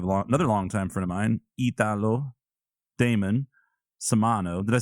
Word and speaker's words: Italo: No, it's Italo.